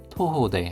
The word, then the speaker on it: 徒歩: 토호대 하면 토호 도보입니다. 토호대 발음에 주의해 주십시오 토호입니다.